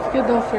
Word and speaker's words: Friedhofer: Friedhofer. Você nem fala o H é mudo. Friedhofer.